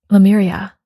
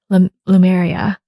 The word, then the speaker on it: Lemuria: I feel this is Lemuria. and I barely even knew how to say it. In fact, I don't even know if I'm saying it correctly. Lemuria. Well, I think it's Lemuria, because as I look